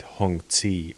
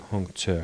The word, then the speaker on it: Hongzhi: English speakers pronounce it Hong C or something like this but I think Hong sure is the right one yeah I usually don't